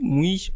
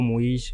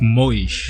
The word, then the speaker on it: Moish: I always wanted to ask is it muish or moish? How do you pronounce it? It's it's it's moish moish.